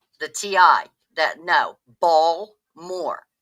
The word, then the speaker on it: Baltimore: That No, Bmore. B A WL Moore is how it is pronounced by everyone here.